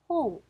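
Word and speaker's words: 本: 보시면 홍, 홍입니다. 자, 어두에서 내려갑니다. 날씨라고 하는 단어죠. 자, 아, 天気라고 읽을 거고요.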